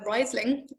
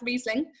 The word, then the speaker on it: Riesling: think we all probably started calling it uh riseling until we were corrected and told it was in fact riesling um but it doesn't